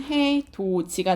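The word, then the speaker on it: 해돋이: 얘는 발음은 해, 도, 지가 되는 거죠. 그쵸? 지금 여러분 여기 보시면 디귿 뒤에 이가 왔는데 발음이 지읒으로 됐어요.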